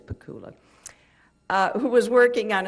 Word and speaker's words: Pakula: with my late husband Alan pakula sorry about the pronunciation it is pakula uh who was working